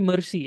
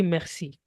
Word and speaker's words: merci: It won't be mercy as we have in English. Okay. It will be merci.